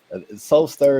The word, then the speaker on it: Soulstir: I I'll tell you Soul stir is the name is because it was about creating Soul stirring experiences things that when you